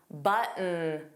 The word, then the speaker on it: button: The T in button was not pronounced. It sounded like button, button.